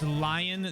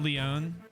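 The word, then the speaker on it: Lyon: better be a CES it's lion not Leon well I don't want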